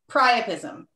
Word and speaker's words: priapism: say it correctly it's it's pronounced like like try if that helps yes it does great thank you this is already bad you're in trouble okay so your word chris is priapism did i say it